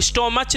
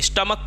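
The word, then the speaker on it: stomach: होके को होगा जैसे इसको हम लोग स्टमच नहीं पढ़ते स्टमक पढ़ते हैं क्या पढ़ते हैं स्टमक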